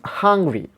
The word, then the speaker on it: hungry: And there is a stress here, primary stress, or the main stress is given in the first syllable. The word is hungry.